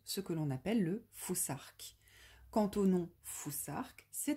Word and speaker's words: futhark: Plutôt que de dire futarque, il est important de prononcer foussarque.